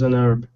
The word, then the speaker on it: herb: a herb bezel is an herb yeah so is an herb you know obviously H is silent so you have to say an so the thing to